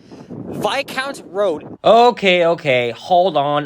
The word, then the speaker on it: Viscount: street name in Toronto that that's pronounced very differently along with stra Avenue Queen's key you get the idea but yeah it's VI count not Viscount Road oh yeah and there's